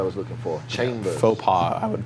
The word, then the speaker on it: faux pas: up fo PI's is it's it's Fox Pass Fox Pass Sox passes out it's pronounced I likes you say any well yeah Fox pass like guy Fox guy thought no this is its faux faux pas and it's yeah I